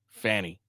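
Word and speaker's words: Fani: It's spelled F-A-N-I, and that's how they're gonna say it. Fanny.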